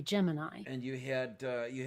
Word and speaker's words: Gemini: then there was okay is it chimney or is it Gemini um well it's clearly Gemini and you had uh